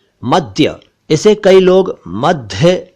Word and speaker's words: मद्य: एक शब्द है मद्य। इसे कई लोग मध्य या मध्य कहते हैं। यह है मद्य, मद्य।